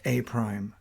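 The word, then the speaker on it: A′: convention a prime where the a apostrophe is pronounced a prime objective one graphing translations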